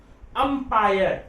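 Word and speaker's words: umpire: अ, अंपायर, तो अंपायर में अ आ रहा है, व्यंजन है, तो स्वर है, इसलिए क्या लगाएंगे?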